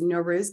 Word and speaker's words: Norouz: asked you before the podcast started no worries no ruse beautiful and we'll have all the show notes